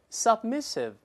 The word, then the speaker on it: submissive: 老师大声再读一遍，submissive。